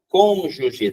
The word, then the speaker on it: cônjuge: palavra que estava ali a pronúncia assim ó uma proparoxítona cônjuge tá aqui ó o assento no o né cônjuge isso aqui significa o